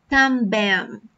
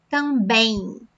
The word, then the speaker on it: também: Pay attention to the pronunciation at the end of this word. So, it's not também, também. No, também, também.